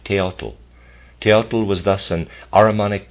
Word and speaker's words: Teotl: I'm pronouncing it Teotl, it's T-A-O-T-L.